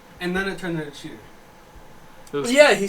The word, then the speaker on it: Cheetor: he runs loose yes his name is chear by the way cheer cheet he pronounces it he pronounces it cheater he does when he